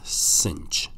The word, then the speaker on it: sinh: for have S hyperbolic that's the way you pronounce it is cinch so s hyperbolic we call that cinch X